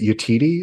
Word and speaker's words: Yetide: Who in God's name, I believe her name, is it Yetide? Is that how you pronounce it?